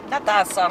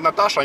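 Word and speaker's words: Νατάσα: и говорите Сергей, Мария, Натаса. Натаса. Если скажете Наташа, они тоже поймут, у них буквы Ш нет, но они поймут.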